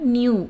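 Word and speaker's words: नया: புதிய அப்படின்னா நியூ அப்படின்னு சொல்லுவோமா? ஸோ ஹிந்தியில் எப்படி ப்ரொனவுன்ஸ் பண்ணணும்? நயா, நா, யா, நயா, புதிய, நயா.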